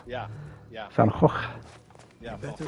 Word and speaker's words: Van Gogh: It's not Fango, it's Van Gogh, isn't it? Yeah. Van Gogh.